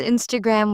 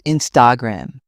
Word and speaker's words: Instagram: Some pronounce Instagram with stress on the gram. It's Instagram.